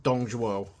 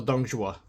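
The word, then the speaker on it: Dong Zhuo: Kingdoms and this is based off Dongo or donga whichever way you want to pronounce it uh why you control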